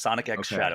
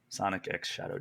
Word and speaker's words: Sonic X Shadow: The X is pronounced Sonic X Shadow. It's not cross. It's not silent. It is Sonic X Shadow Generation.